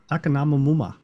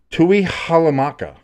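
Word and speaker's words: Tuihalamaka: Takanamamuma. I mean, Close. I applaud the effort. That is Junior Tui Halamaka.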